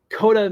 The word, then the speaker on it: Koda: duh that's how you say his name yeah coda is the little bear and brother bear um